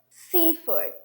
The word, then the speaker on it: seafood: Seafood, seafood. You see? So I'm showing, I'm stressing the syllable and the other ones are reduced.